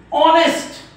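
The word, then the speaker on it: honest: समजतंय ना तुम्हाला मग या ओ च्या अगोदर जर एच आला तर हा एच नेहमी अशा प्रकारच्या स्पेलिंग मध्ये शांत असतो तुम्ही तुमच्या टेक्स्टबुक काढा तुमची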